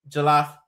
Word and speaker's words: jollof: Jack said rice, but we got there and then it was jollof rice.